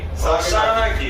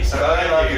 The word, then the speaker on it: Saganaki: We discovered a new fried cheese called Saganaki. Saganaki.